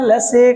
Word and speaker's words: लसी: यहां दिख तो बड़ी रही है, गुरु मात्रा दिख रही है, पर उच्चारण करते समय इस सी को हमें लघु उच्चारण करेंगे।